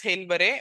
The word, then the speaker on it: Haileybury: அந்த காலேஜ் பேரு HAILBEURY பி pronounced as Hailbury, but it's Haileybury College spelling.